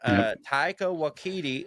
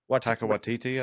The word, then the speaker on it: Taika Waititi: Michael, not Martin, damn it, Michael Sheen and Taika Waititi. Is that how you say his name? Taika Waititi, I think.